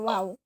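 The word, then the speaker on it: واو: Huruf waw makhrajnya di safatain, di bibir. Huruf wawu ini lain ya. Kalau huruf wawu ini tidak ada huruf selain huruf wawu yang monyong-monyong. Huruf wawu pengucapan huruf waw harus monyong ini. Harus monyong. Waw. Seperti harokat dhammah.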